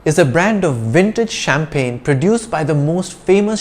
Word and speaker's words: champagne: let's talk about champagne champagne with a silent g is that bottled bubbly